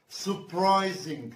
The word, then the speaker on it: surprising: ما بننطقش أول R في surprising. بنقول surprising, surprising.